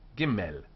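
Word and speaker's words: גימל: with Dot and without the DOT are both pronounced giml gim G gim these two letters both with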